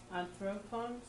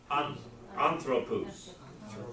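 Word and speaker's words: ἄνθρωπος: You got it. Anthropos. Put the accent at the beginning.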